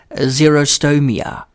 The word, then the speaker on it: xerostomia: Zero meaning dry like X X E R O like a Xerox machine.